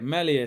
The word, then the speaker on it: Meslier: Is it Meslier? Meslier, so it's a silent S here.